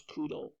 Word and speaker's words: Kudo: uh hungo right so in Japanese they they pronounce Kudo right and so the